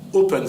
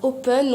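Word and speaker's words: Hopen: Alors, il y a un concert du groupe Open, ça s'écrit H-O-P-E-N.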